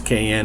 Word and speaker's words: Qayin: I'm going to say, pronounce Qayin or Cain as is Qayin.